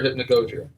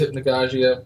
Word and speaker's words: Hypnagogia: you can pronounce it two ways hypnia or hypnogogia okay um I pronounce it hypnogogia whenever you he me talk about it that's